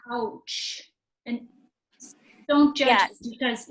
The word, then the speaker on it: Pouch: Okay, so Jessica, I'm going to butcher this last name, Pouch.